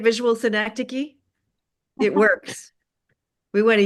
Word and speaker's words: synecdoche: synecdoche. I haven't heard that since I was a senior in high school. That's what we're up to here, right? Visual synecdoche.